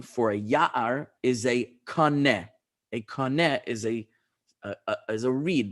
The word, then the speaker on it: kaneh: So kaneh, as I mentioned last week, in Hebrew, kufnun hey kaneh, is actually the same as the English word is C-A-N-E, which we pronounce cane, but is really from the Hebrew kaneh.